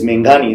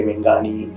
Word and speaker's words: Meghani: is my surname and my surname is menghani that is very hard to pronounce for many people many people say mengani megani and she used to